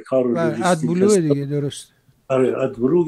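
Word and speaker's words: AdBlue: آره ادبلو یا ادبلو ما در آلمان اینجوری تلفظش میکنیم.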